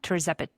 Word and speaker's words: tirzepatide: Particularly, this study was on tirzepatide. tirzepatide. Yep, Am I pronounced yep.